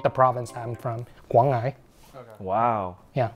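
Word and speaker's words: Quảng Ngãi: It's very specific to the province that I'm from, Guangai. Wow. Yeah, Guang'e. That's a pronunciation.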